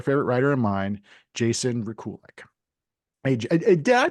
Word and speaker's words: Rekulak: it's a funny thing it's Ukrainian and so no one in America knows how to pronounce it it everyone mispronounces it